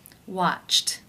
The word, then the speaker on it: watched: The final sound of the infinitive form of the verb is the T sound.